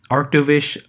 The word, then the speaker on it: Arctovish: Arctovish also being a water ice type where its name rhymes with Mish.